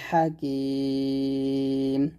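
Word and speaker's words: الحكيم: কুরআনিল ওয়াল কুরআনিল হাকিম এখানে এই যে হাটা অবশ্যই চাপ দিয়ে বলবেন হা এরকম ওয়াল কুরআনিল হাকিম পড়েন ইয়াসিন কুরআনিল হাকিম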